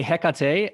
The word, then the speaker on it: Hecate: Yeah, so I would say Hecate, and you're spot on.